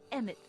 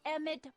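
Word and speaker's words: Emmett: and it so happens EMT fits the bill to a te that's emit Brown rhymes with clown which I'm beginning to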